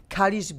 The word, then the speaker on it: Kalisz: my mother's family is from Kalisz. Kalisz, beautifully.